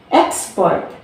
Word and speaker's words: export: Second is export. So we stress here from export.